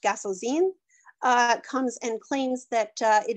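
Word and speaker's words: Gasozein: And there, Guinevere and Lancelot are not having an affair, but another knight, who I believe his name is pronounced Gasselzine, comes and claims that it is him that Guinevere loves and not Arthur.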